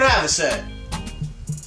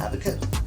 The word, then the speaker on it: avocet: It's the opposite of what we used to call it. That's what I know. Advocate. It's avocet.